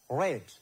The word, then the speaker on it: read: But when you pronounce or when we say it, when we read it, we have to say as red.